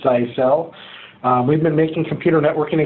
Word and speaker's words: Zyxel: so I guess we'll start with it is pronounces I sell you know that Jacob doesn't pronounce it that way but I mean it's a cell we've been making computer networking equipment now for